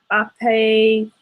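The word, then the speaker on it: ἀπέθανεν: Okay, so my verb right here is apathonin. Is that how you pronounce it? Yeah.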